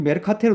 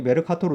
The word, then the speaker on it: 메르카토르: 우리 메르카테르 도법이지, 그지? 메르카토르 도법. 우리가 보통 보는 지도의 그 창시자지. 머케이터라고 읽니?